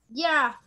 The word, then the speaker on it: giraffe: Jirafe. Muy interesante. A ver, Valeria, ¿cómo pronunciarías esta palabra? Jirafe. Muy cerca. Kemi, ¿cómo pronunciarías esta palabra? Giraffe. Giraffe. Claro, la pronunciación es giraffe, ¿no? Giraffe.